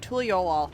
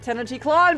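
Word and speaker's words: Tuliyollal: of succession that's right tul yolal I could not remember how to pronounce that it's not teny CLA baby since we still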